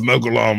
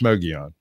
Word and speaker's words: Mogollon: Well, it's the Mogollon Monster. Well, it's Mogion.